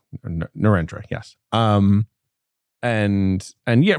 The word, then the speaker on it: Narendra: Narendra, yes.